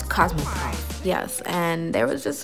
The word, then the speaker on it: Cosmoprof: I pronounced CosmoProf wrong in the beginning of this video, but it's CosmoProf.